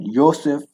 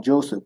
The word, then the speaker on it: Yosef: But Yosef is the name, not Joseph, but Yosef. Yahshua, Yesaias. All these I's and these J names are really Y's. It's pronounced a Y.